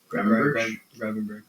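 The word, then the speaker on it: Gravenberch: on that Ipswich game that I saw with Liverpool, their best player was Gravenbach. Is that how you say it? Gravenberg.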